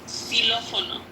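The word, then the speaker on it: xilófono: And the third one is Xylofono.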